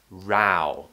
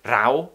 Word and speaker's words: row: also the ao diphthong we're starting with an a and then we move to a round shape now another one i